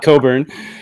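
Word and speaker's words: Cockburn: couldn't let it go by without mentioning Bruce Coburn stealing fire and I love this hype sticker it it tells you how to pronounce it so don't pronounce it C CK Coburn uh and I mean I read I read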